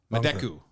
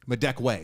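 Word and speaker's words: Madekwe: uh story David Harbor Orlando Bloom and Archie madeku madeku I hope I'm saying that right you might know Archie madeku from uh mendekwe sorry I had my deck way is how you say his name Archie madeka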